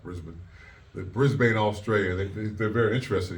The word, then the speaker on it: Brisbane: It came to the locker room and said, "There's some guys out in the hallway from a place called Brisbane, Australia." It's actually pronounced Brisbane.